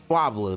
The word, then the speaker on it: Swablu: oh that's a new one that's uh swab swabl how do you say it swablu that's right that's a dragon type I believe